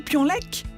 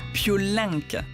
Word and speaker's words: Piolenc: la nationale 7 intéressant j'ai dit pions lek en fait il faut prononcer piolenc c'est jean-claude un enfant